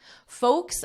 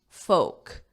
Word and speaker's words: folk: socially distanced outdoor exercises folks across the country so notice here notice my pronunciation Oak oak folk folk so that L is not pronounced it's silent the word folks is